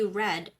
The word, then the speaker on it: read: Okay, read is the present tense. However, for the past tense, this is still the same spelling but a different pronunciation. He read the news.